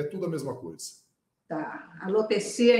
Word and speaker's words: alopecia: tudo a mesma coisa alopecia então é a pronúncia correta certo a pessoas que falam alopécia outra forma alopecia também aceitamos de tudo tá certo